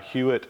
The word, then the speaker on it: Huot: These are what they call dispensers, actually, and these are made by Hewett, which is spelled H-U-O-T.